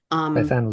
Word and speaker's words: Bethan: And I know how to pronounce it. It's not Beth Ann.